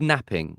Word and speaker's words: knapping: yeah, and that process is called knapping, spelled with Yeah. a silent K, so Mm, KNAP. mm, So it should be knapping.